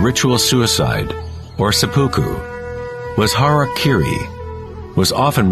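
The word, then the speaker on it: hara-kiri: one form of ritual suicide or seppuku was harak Kiri was often mispronounced as Harry KY it means to impale one's Hara thereby cutting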